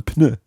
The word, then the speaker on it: pneu: Un pneu. Un pneu. There's a P and an N in there. Un pneu. Un pneu. Okay, it always sounds as if it comes right through your nose.